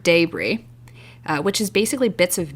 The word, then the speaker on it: debris: Roast beef style po' boys are often served with debris, spelled like debris, but pronounced debris, which is basically bits of meat that fell off during cooking and are rendered into like a near gravy consistency.